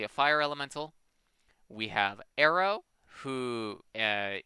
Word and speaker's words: Aero: fire Elemental we have Arrow who uh is spelled like aerodynamics a e r o um he has access